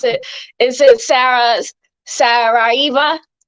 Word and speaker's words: Saraiva: Please don't beat me up if I if I mispronounce it. Is it Sarah Saraiva? Saraiva.